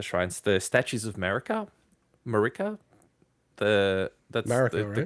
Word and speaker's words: Marika: the not the shrines the statues of america marika the that's america the correct america the correct pronunciation um so it's an element that that